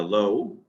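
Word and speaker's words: לֹא: right okay so um this vowel is the o vowel so this will be low and lo the alph is silent right the alpha is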